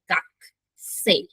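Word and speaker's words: 学生: আচ্ছা, গাটসে, কিন্তু এখানে ইংলিশে লেখা গাটোসে, এটার উচ্চারণটা কিন্তু হবে গাক সে, ঠিক আছে? কুটা সম্পূর্ণ উচ্চারণ হবে না। কু যে সাউন্ডটা জাপানিজ ভাষায়, এটা সাধারণত একমাত্র যদি ওয়ার্ডের সামনে বসে তাহলে কু সাউন্ডটা উচ্চারণ হয়। আর যখন এটা মাঝে বসে তা সাধারণত কু সাউন্ডটা উচ্চারণ হয় না।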